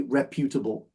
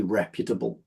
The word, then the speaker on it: reputable: the noun and now some people do say reputable but I say reputable reput reputable I think that reputable is probably the way that it would be